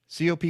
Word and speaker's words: COP: it cop is it cope is it cop 26 what what do you use cop 26 cop okay so there we go